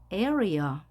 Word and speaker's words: area: 이때 각각 나눠 주게 됩니다 따라서 3음절이 되어서 발음도 에어리어 에어리어 나중에 배우겠지만 이중모음에서 2A 같은 경우에는 EA